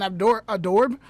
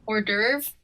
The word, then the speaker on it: hors d'oeuvre: use that as an outdoor adorb i can never say i can never say the word right how do you say it hors d'oeuvre yes yes what's the